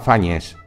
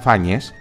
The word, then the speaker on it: Fáñez: Por ejemplo, si Álvar Fáñez aparece con nombre a mitad de verso, se puede leer Álvar Fáñez, dado que el contaje de sílabas lo permite. Sin embargo, a veces el trovador coloca Álvar Fáñez al final de verso. Y si se leyera así, Álvar Fáñez, la rima en aguda se desvirtuaría.